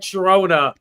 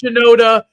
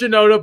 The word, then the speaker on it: Shinoda: I've always about Mike shirona is that I know it's Shinoda I know it's shenoda but I I don't care for him so that's why I mispronounce his name Shona I call I call